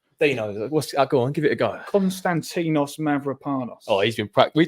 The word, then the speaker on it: Konstantinos Mavropanos: How do you pronounce his real name? Go on. Dinos. Go on, give it a go. Konstantinos Mavropanos.